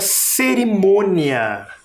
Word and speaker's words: cerimônia: Cerimônia também tem sílaba tônica. Esse som é diferente desse som, devido ao acento. Um acento é nasal, parece que sai pelo nariz o som.